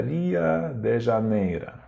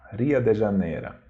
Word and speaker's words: Rio de Janeiro: de Janeiro mas pronuncia ria de janeira ria de janeira assim que os russos pronunciam o nome desta cidade brasileira então a outra ocorrência